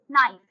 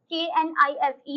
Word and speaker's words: knife: For example, knife. K-N-I-F-E, knife. It starts with K, but the K is silent when you speak it, when you pronounce it.